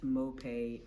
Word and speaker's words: Mope: so my name is MoP m o p e with an accent on the E I am 28 years